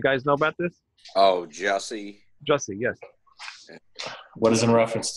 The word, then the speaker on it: Jussie: do with music, but the actor, I can't pronounce his first name, Jesse Smollett. You guys know about this? Oh, Jussie, yes.